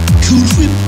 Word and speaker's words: Cool Whip: it doesn't bother you the way I pronounce It Cool Whip no why would it cool whip I'm putting emphasis on the H sounds right to me you